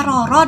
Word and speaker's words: Rara: menderita atau sedang sakit sementara bahasa Jawa Rara atau Roro Rara atau Rasul saja Rara bacanya Roro dalam bahasa Jawa memiliki